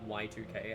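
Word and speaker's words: YIIK: I've been watching, for some reason, an amount of content about the game Yeek, like the indie RPG Yeek, or Okay. Y2K as it's pronounced, which is widely known for being not very good, but also incredibly funny.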